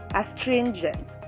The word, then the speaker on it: astringent: not amplify nor amplify second word astringent the first syllable is ask second syllable is trin and third syllable is gen here the stress is in the second syllable astringent third word guarantee first